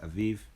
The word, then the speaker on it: Abib: it's the month of abib it says here abib but it's pronounced aiv and it'll also come up in the scriptures